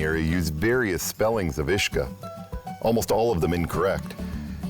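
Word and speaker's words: Easach: name for the waterfall, which, while pronounced the same, is spelled with an E. So instead of being spelled U-I-S-G-E or U-I-S-A-G-E, the correct spelling is actually E-A-S-A-C-H. The spelling of Ishka with the E is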